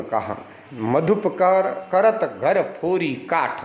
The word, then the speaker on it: फोरी: फोरी काठ में, काठ यानी लकड़ी, फोरी यानी मैंने जैसे कहा र का उच्चारण र करते हैं।